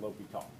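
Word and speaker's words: L'Hôpital: ass into that look like hospital but it's pronounced lobito okay so the way l'hopital's rule works is you take the derivative of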